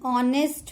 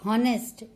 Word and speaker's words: honest: He is an honest man. We never speak honest. Honest. H is silent and we are using the article N before the word honest.